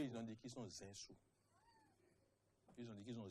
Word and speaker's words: Zinsou: J'ai entendu, comment on appelle, il s'appelle, M. René Zizou, dit Zinsou.